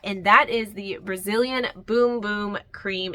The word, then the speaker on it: Bum Bum: that is the Brazilian boom boom cream it looks like bum bum but yes it is pronounced Brazilian boom boom cream this one right here